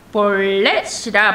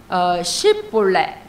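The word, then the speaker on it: שיבולת: 그들에게 에브라임하고 또 므낫세들에게 이르기를 십볼렛이라 발음하라 그래요. 그랬더니 에브라임 사람들이 그 발음을 잘하지 못하고 십볼렛 그러니까 SH 발음이 있고요. S 발음이 있는데 히브리어로 하면 이게 신입니다.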